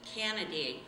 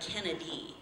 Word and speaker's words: Canaday: And the owner was Breen Canaday. Jeff used to always say it like it sounded like Kennedy. So I was like, Kennedy? He was like, no, Canaday.